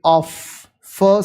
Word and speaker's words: off: ram we never say of f sound is not coming but we somehow we say in English and when we talk about off it has to be f f sound is coming there and what are the